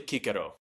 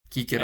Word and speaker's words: Cicero: Technically the Latin and the Greek every time there is a C it is always pronounced like a K.